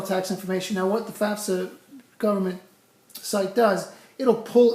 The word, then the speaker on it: FAFSA: The word is FAFSA, F-A-F-S-A, the Free Application for Federal Student Aid. For some reason, people by the gajillions like to pronounce it FAFSA. I hear FAFSA all the time. It's just after you hear it a billion times, you get annoyed with it. So it's actually the FAFSA.